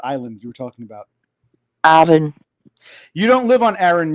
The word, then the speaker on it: Arran: How do you pronounce that island you were talking about? Arran.